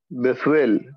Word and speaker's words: Bethuel: Tau is th. T is in toy. Yeah, T is in toy, or it's th like the word think.